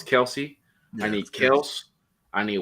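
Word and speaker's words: Kelce: this year i need i guess it's pronounced kels i always thought it was kelsey i need kills i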